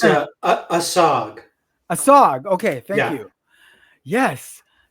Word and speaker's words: ASOG: I'm not sure how to pronounce it. I was like, it's ASOG.